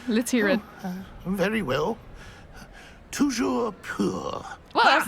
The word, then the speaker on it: toujours pur: Toujours pur!